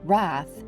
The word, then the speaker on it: wrath: Make the G hard in gyre and gimble, and pronounce wrath to rhyme with bath.